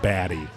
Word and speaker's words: Baty: It was I think in the book it was Baty. Yeah. Yeah, that's right. And on the audiobook they pronounced it Batty.